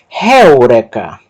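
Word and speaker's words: εὕρηκα: E aqui nós temos uma palavra iniciada por esse ditongo, eta, y, el, mas tem uma aspiração forte que vai alterar a pronúncia do ditongo el para réu.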